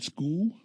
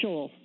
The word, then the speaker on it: Scholl: we have Merlin you you pronounced your name school it's Sha Sha okay who's retired manager